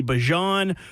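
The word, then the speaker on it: Bijan: So now it comes out and it's like okay no it's back to being Bjon after he told everyone he wanted to be Bjon.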